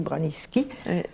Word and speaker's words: Branicki: Parce que ça s'écrit Branicki, mais on dit Braniski.